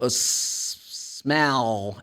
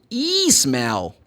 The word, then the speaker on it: smell: upper teeth actually so smell and be careful cause Brazilian students normally they say e smell haha they pronounce the L as U and they add one syllable in the beginning cause they say e